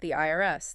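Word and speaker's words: Ayareser: But if you say it out loud, it is just the IRS, the Internal Revenue Service.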